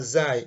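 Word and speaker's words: زاي: Some people call it Zain, but the right pronunciation is Zai.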